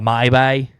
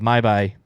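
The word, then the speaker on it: Mhybe: So I also put that Talk becomes the mortal sword of Tog, and the Maibai. Is that how you say it? The Maibai, yeah.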